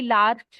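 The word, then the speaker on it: larch: Next is gorge, next heather, next Holi, 16th is honeysuckle, 17th is hornbeam, 18th is impatience, 19th is lark या कई लार्च भी बोलते हैं, आई pronounce it लार्क। Next is मिमिलस, 21st is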